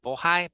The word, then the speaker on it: Bohai: autonomous regions from them I love how they pronounce it in in Mandarin right like bohai bohi why I can't I can't replicate that the the bohai sea